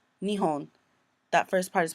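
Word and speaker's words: 日本: So this one kanji, in the first one it's pronounced nihon.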